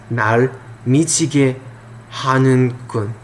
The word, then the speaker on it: 날 미치게 하는군: You don't really pronounce the H hard. You don't pronounce the G like ge. It's more like a. It's hard, you know. It's a little deeper of a G, you know. 날 미치게 하는군, almost like a K.